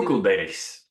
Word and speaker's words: Coeckelbergs: And for those that don't know, I will try and pronounce your last name, Coeckelberg. Did I do? Coeckelbergs. Okay. It's the proper Dutch pronunciation.